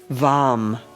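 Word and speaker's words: vam: And the one syllable Sanskrit mantra for this is um vom with a v.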